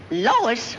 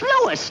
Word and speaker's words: Louis: Lois. Me name is Louis, not Lois.